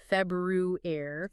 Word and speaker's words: February: The key is remembering that R right after Feb, it should be February. February. Make sure that first R is audible.